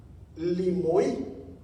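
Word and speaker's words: λιμοί: Entonces, aquí se está refiriendo a una palabra griega que se llama o que se pronuncia limoí. Aquí se la trae limoí.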